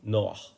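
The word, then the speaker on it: נח: We're talking about no other than Noah, or in Hebrew, Noah, because the Anglos cannot deal with the h. They cut off the ends.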